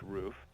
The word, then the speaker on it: Ruf: a a a a roof which is Ruf some people pronounce it rough but it's actually pronounced roof and he came out